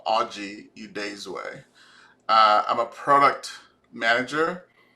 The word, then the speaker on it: Oji Udezue: on video um and this is how to pronounce my name audrey udaysway uh i'm a product manager like i said